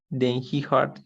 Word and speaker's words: heard: Heard. Como una O.